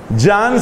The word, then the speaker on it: Jean: francés de la posguerra yang se escribe jean paul se escribe paul sartre se escribe como se oye entonces federico nietzsche jean-paul